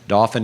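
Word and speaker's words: Dauphin: the home's not finished but dolphin is spelled d-a-u-p-h-i-n not like the porpoise but if if you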